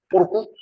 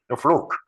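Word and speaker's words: fluke: 뽀르꾸? 이름 안 써요? 써요? 뽀르꾸라는 말 써요? 저것도 영어예요. 플루크. 플루크. 아, 그런 말이에요. 뽀르꾸가요. 이거. 잠깐만요. 여기에서요. 앞. 요게 이제 플루크 하는 게 일본식으로 발음해서 뽀르꾸예요, 뽀르꾸.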